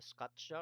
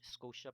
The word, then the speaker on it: Scotia: You have here the Scotia or Scotia Plate. I believe both pronunciations are correct because you have things like Nova Scotia.